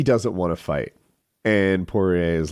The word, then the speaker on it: Poirier: you've been following the is it poirier am i pronouncing that right yep versus foreign drama so